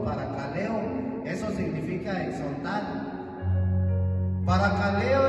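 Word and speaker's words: παρακαλέω: divide en dos se es una palabra que se pronuncia para caleo así todo junto para caleo Eso significa exortar para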